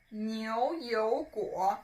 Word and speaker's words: 牛油果: So 牛油果, when you pronounce it, as I've just said, it's like a pouting sound.